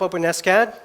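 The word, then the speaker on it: OpenSCAD: do you pronounce it not open scad the maintainers prefer open s-cad so it doesn't sound like an open wound and so I can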